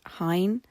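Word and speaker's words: Hyne: me recording this that it's probably pronounced Hine so um sorry again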